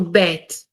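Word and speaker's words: ב: to bet okay so bad can be pronounced as b or v okay if it has a dot in the middle it's b if it doesn't have any that in the middle it's a v okay so bet and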